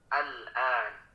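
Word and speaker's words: آلْآنَ: Sepertinya al-an ya. Nah, ini itu dipanjangkan dulu selama 6 harokat. Ya, panjangkan dulu hamzah madnya, lalu lanjut ke al-an.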